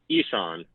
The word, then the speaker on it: Ishan: Yeah, it's Ishan. Ishan. Oh, Ishan. I knew I was messing something up. I apologize. Like the Nintendo eShop.